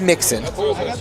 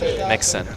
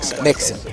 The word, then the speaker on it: Nixon: little bit Mr Brady what'd I say his name is Mixon Nixon makes it so he'd be a little his his name is Nixon gotcha I was just